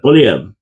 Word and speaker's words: Poilievre: And it's got to be a French pronouncing that. Poilievre.